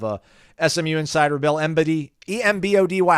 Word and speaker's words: Embody: But we'll have a SMU insider, Bill Embody, E-M-B-O-D-Y. How would you pronounce E-M-Body? I think you got it right. Embody? Yeah, Embody.